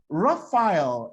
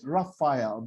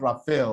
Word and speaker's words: Raphael: Raphael is the real word, Raphael, not Raphael or whatever Nigerians call it.